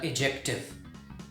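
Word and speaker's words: adjective: Remember, मैंने एडजेक्टिव नहीं बोला, मैंने बोला एडजेक्टिव। यस, इसमें डी साइलेंट होता है, राइट।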